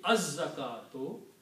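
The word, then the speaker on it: الزَّكاةُ: And again, this za is a shamsi letter, so in pronunciation it will be az zakatu.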